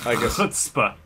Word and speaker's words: chutzpah: chutzpah. It's pronounced chutzpah.